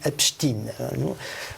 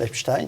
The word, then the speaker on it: Epstein: traces avec l'affaire Epstein, ou Epstein, c'est comme on veut. Les Américains disent Epstein. Moi, j'ai tendance à prononcer à l'allemande Epstein, mais enfin, passons.